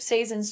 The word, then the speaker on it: Si:zen: Um, it is pronounced season.